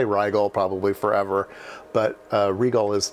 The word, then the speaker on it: Rigol: right well uh it's regal actually the way that they pronounce it is regal i've always said rydel so i'm going to say rigel probably forever but regal